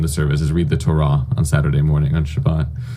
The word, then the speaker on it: Torah: Torah, not Torah. Yeah, the pronunciation is meant to be Torah, but it's hard to say in an English context.